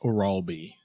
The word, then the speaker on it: Orolbai: I think it's pronounced Orolbai. Maybe.